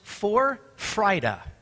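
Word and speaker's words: Vorfreude: for today it F it's a German word so if you're of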